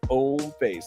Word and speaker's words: Hommeface: Yes, the H is silent. Homeface.